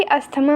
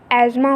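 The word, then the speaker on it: asthma: disease पहले होता है एल्स को गलती से भी अस्थमा मत बोलना हिंदी में इसे अस्थमा बोलते हैं इंग्लिश में इसकी स्पेलिंग अजमा होती है बस द लगा दिया जाता है जो की साइलेंट है अजमा एक लग डिजीज है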